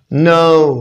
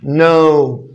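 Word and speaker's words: know: snow طبعا بمعنى جليد no خلي بالك ان الكي هنا silent no no no no طبعا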